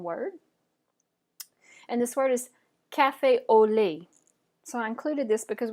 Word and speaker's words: cafe au lait: allow you time to repeat the word so cafe au lait Cafe Le Cafe Le awesome all right the